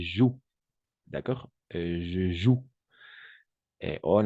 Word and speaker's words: joue: Et alors, on va prononcer joue. D'accord? Je joue. Et en effet, d'accord? Je joue. Le E à la fin est muet, sauf le participe passé, n'est-ce pas?